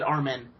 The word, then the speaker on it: Armin: main characters is named Armin but they pronounce it our men yeah kind of weird